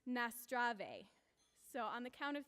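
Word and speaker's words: Наздраве: possible we're going to say cheers in bulgarian and it's pronounced nastrave so on the count of three one two three nastrave hello again um so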